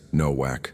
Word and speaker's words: Nowak: Nowak, the father said slowly, the W pronounced like a V.